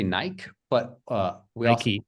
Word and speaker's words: Nike: lot of people say Nike but uh lucky say Nike yeah Nike yeah great it's like usually we never pronounce e on the end but in this word we should pronounce it doesn't make sense because